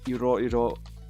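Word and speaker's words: 色: So this kanji is pronounced iro.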